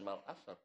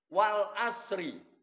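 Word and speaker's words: والعصر: Seringkali kita mendengar wal asr. Ketika saya masih di SMP bacanya bukan wal asr, wal asri.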